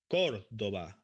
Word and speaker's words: Córdoba: So it's like to emphasize the sound. Córdoba, Córdoba, Córdoba. So we don't say Córdoba, Córdoba, Córdoba.